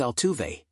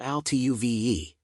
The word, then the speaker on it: Altuve: It's Altuve, not Altuve.